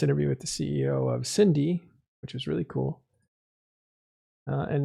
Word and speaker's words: SYNDE: Well, Cyrus, once again, thank you, CEO of SYNDE. They are under attack in their wormhole. Expect to be evicted this Saturday. Good luck to you. Thank you. It's usually pronounced SYNDE, Matterall. SYNDE, not SYNDE.